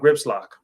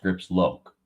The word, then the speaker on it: Grips Lock: Talk to me about Grips Lock. I believe it's pronounced Grips Loke.